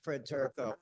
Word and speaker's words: Turo: Fred or Jurro. Yeah, my name's Fred Turo.